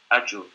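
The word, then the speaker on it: Ajjur: Okay, we will pronounce it A-double-J-U-R. Ajur.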